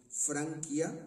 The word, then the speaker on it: Francia: obligado textos en latín pronunciamos franquia escrito Francia porque es la tierra de los franqui Es decir de Los Francos Bueno pues Los Francos